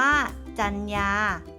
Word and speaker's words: จรรยา: สรรเสริญ อ่าน ว่า สรรเสริญ จรรยา อ่าน ว่า จรรยา พรรษา อ่าน ว่า พรรษา